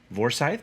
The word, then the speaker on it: Forsythe: uh local peasant john forsythe vorsythe depending on your pronunciation i grew up near a town called forsythe so we'll go for the uh we'll go for the german pronunciation of the v there um it was spelled